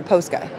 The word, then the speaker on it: Posca: Posca or Posca?